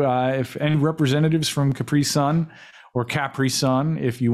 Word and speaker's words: Capri Sun: is correcting me uh we pronounce it capri sun here capri sun is sending me no but it's capri sun right like like that was that's what the commercials always told me yeah capri sun that's